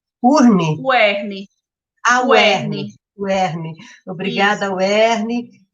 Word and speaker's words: UERN: Como que vocês pronunciam? Urne? UERN.